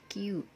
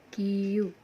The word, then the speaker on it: Queue: materinya eh Hai sekarang Belajarlah Q bacanya Q nulisnya kowe Tapi bacanya Q ok hai hai Hai nah